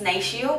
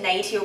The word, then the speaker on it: Natio: like this uh nature i'm always saying it's national but i've just dived into nato brand recently and i realized that's how you pronounce it so it says sun care board